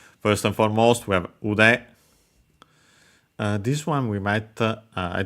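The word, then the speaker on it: 腕: First and foremost, we have ude. This one we might, I don't remember the second part, having seen it here, but yeah, ude, accent on the last more, is a body part, arm.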